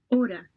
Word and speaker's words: hora: Hora, Hora. So H is silent.